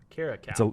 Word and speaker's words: caracal: eastern cape is the caracal which is like carrot cow caracal it's a link species